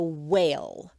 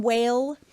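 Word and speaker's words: wale: Um, a lot of that depends on the whale, which is spelled W A L E whale, the whale count.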